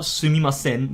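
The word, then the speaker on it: すみません: Now again with the N sound, you're gonna have to develop a feeling for that, but it's really not that hard. Like in general, just don't pronounce it too strongly. It's not sumimasen, but it's sumimasen. That's how people pronounce it.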